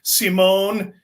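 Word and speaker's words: Simón: likes to call him it's Simone but it's spelled Simon so excuse the correction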